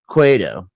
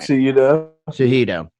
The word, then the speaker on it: Cejudo: One guy who I am always a huge fan is Henry Cueto. I always say it wrong. I can never say his name. Oh, right. Cejudo.